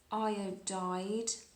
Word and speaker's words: iodide: This is potassium iodide, so IDE. When the halogen is attached to another element, it turns into the halide and it ends with IDE.